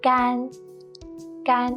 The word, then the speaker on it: 干: But the first one with 3 simple straight lines, it's pronounced, actually it has 2 pronunciations. Let's look at them here. When it's used as an adjective, meaning dry, it's the first flat and long tone. 干 meaning dry, as in 干净干净.